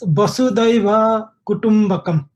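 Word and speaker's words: Vasudhaiva Kutumbakam: It is Vasudhaiva Kutumbhakam. Vasudhaiva Kutumbhakam.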